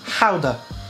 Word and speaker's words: Gouda: And I've got some gouda or gouda, or if you want to pronounce it properly, it's gouda.